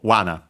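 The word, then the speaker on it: 罠: means uh trap actually accent on the first syllable so wana uh yeah trap in general Uh yeah, a trap for catching animals.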